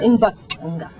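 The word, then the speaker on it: Mbaqanga: So Lucky, when did you decide to change from Zulu Mbangwanga, is that how you pronounce it? Mbangwanga.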